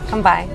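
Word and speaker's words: 乾杯: okay cheers how do you say Kampai yeah come by I think I I always thought like when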